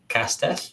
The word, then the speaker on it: Castell: The easiest one probably is maybe Castell. It's close to Castle.